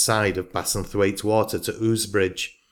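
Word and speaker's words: Ouse Bridge: of bassenthwaite water to ooze bridge pronounced usbridge it runs directly along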